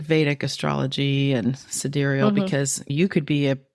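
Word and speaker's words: sidereal: about this yeah and this one was about cederal which looks like it's spelled like side reel but it's cederal um astrology and it's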